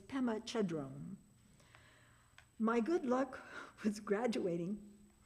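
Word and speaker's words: Pema Chödrön: You see, that year the commencement speaker was Pemma Padon of If you don't know her name, it's probably because I pronounced it incorrectly. It's Pemma Chadron.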